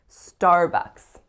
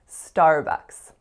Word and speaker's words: Starbucks: word is Starbucks Starbucks so two syllables and they're both semi tricky vowels so the first vowel is our R so it's a complex our colored vowel and so make sure you're not saying uh ah it's not odd it's